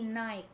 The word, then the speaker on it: Nike: Yung word na N-I-K-E yung brand na yon, you pronounce it as Nike. Hindi Nike. It's Nike.